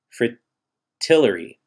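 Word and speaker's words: fritillary: seagull lily and frittata i think it's pronounced fri tillery they would break they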